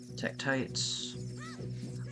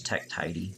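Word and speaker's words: Tektite: Mountain here we come Tech tis I used to pronounce it as Tech TIY scorn was such a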